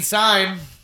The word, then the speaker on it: Sime: Sime rhymes with slime and time.